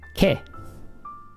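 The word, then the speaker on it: け: Always ke. It's never going to be ka or ka or ke. It's just ke.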